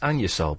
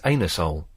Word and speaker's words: Anusol: one good it's it's it's PR pronounced anol but obviously it's anusol uh a n u s o l yeah but they don't want you to people to go around saying that oh to save your embarrassment they call they pronounce it an your soul which is just insane isn't it yes line